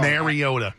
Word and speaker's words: Mariota: this marcus mariota right how many people still pronounced it wrong mariota right really literally through